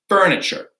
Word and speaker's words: furniture: Like a couch is furniture. A couch is furniture. Or a dresser is furniture, right? So that tu is pronounced with a ch, okay?